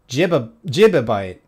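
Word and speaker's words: gibibyte: Jibabyte. Jibabyte. Yeah, okay. Now I see. GB is gigabyte. GIB is gi jibabyte. Jibabyte.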